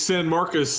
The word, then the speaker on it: San Marcos: do it correct him level how do you pronounce it it's San Marcus and this is the party school Bowl that's